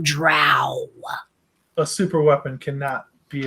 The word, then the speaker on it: drow: We call them dro, down here. But I hear you, you lighter-footed folk up above the ground. You call them drow.